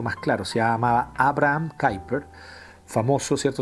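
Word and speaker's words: Kuyper: claro se llama abraham cooper famoso cierto se escribe en culver con cae y y abraham cooper o kuiper es quien el de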